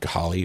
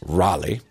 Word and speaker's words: Raleigh: Apparently, it's not Ghali or Gali. It's Raleigh, which is a really cool name, by the way, I think.